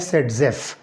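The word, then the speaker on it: Zaitsev: तो इट is called as ज़ेटसेव rule, ज़ेटसेव, जिसका एक प्रोनाउंसिएशन बनता है सेटजेफ। ठीक है, आप इसको सेटजेफ भी कह सकते हो।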